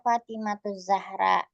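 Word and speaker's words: فاطمة الزهراء: Jadi bacanya adalah Fatimatuz Zahra. Kalau kita masukin jadi ee ya dengan kata panggilan maka bacaannya gimana Ibu-ibu? Fatimatizah. Iya. Fatimatizah. Iya, Fatimah Zahra.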